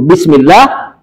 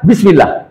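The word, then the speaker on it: بسم الله: Alif yang tidak ditulis ini tidak boleh dibaca bismillahak boleh baca bismillah dipanjangkan Bagaimana cara panjangnya bismillah itu cara baca benar Makanya kalau baca bismillah Bismillahirrahmanirrahim salah bismillah bismill terlihat bedanya kan bism kenapa dipanjangkan sedikit menunjukkan padanya ada a Alif dibaca agak dipanjangkan untuk menunjukkan sebagai ganti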